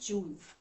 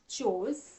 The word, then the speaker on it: chose: में बात की, टू चूज। इसका पास्ट टेंस है चोज और इसका पास्ट पार्टिसिपल है चोजन। तो ध्यान रखिएगा, इसका उच्चारण भी थोड़ा अलग है। टू चूज, past tense चोज और पास्ट पार्टिसिपल चोजन।